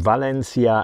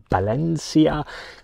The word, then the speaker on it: Valencia: So today I'm taking myself even to Valencia, and I keep on saying Valencia and the Spanish pronunciation is with a B, so it's Valencia.